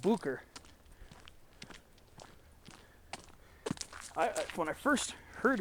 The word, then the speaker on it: Boucher: r see it's spelled the name of the peak is spelled b o u c h e r but it's pronounced Booker I when I first